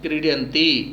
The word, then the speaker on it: क्रीडन्ति: तो कैसे बोलेंगे, शुद्ध उच्चारण पर ध्यान दीजिए। क्रीडति, क्रीडति, क्रीडतः, क्रीडतः, क्रीडन्ति।